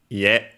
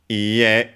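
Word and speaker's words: いいえ: Let's see if the other dictionary shows it, because this case it should be, yeah, low, high, high, and it's actually accented. The accent is on the last one, even though usually you won't notice it because there aren't parts that you attach to it.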